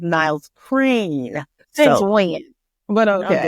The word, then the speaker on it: Niles Crane: And last week I did say his name was Niles Kramer. It is not. It's Niles Crane.